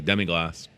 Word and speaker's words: demi-glace: He told me how to say it yesterday, demi-glace.